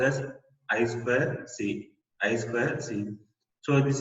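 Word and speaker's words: I²C: first one in the integrated circuit this is pronounced as as well see as well see so this is a synchronous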